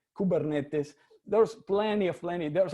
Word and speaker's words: Kubernetes: commander or ruler so the word is actually pronounced keeper neat piece i sometimes say kubernetes something and says kubernetes there's plenty of lemon there's actually very funny